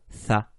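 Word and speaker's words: ث: Pour prononcer cette lettre, il faut faire arriver la langue jusqu'aux dents de devant, aux incisives.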